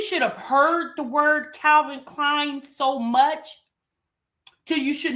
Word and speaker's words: Calvin Klein: And then I got She can't even say the word Calvin Klein. Like since you should have heard the word Calvin Klein so much cuz you should know how to say Calvin Klein.